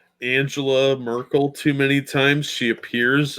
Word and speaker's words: Angela Merkel: Why can't you pronounce her name right? Angela Merkel.